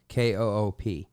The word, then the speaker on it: coupe: So the pronunciation is coupe, Koop, and if it has the accent, is there not an AY on the end?